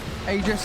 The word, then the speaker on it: Aegis: egypt of the immortal aegis aegis where it was said that it's pronounced ages that's true ice frog